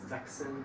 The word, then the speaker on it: Sachsen: El tercer caso es si viene después del CH una S, se pronuncia como la K.